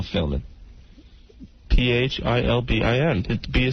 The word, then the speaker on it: Philbin: and Kathy Lee Gifford I thought the B was silent Regis Philman oops you've never heard